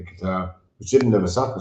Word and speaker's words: Qatar: I know you heard me saying it correctly, Qatar, which didn't have a soccer stadium, but it got the World Cup.